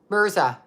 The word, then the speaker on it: Mirza: Debbie m-i-r-z-a Debbie meisar Meyer mirror mirrors are Mirza Debbie Mirza that's how you say it Debbie